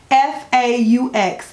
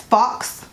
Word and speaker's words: faux: I mean, oh, and if I hear one more person pronounce the word FAUX as fox, I'm gonna go nuts. FAUX is faux, like faux fur.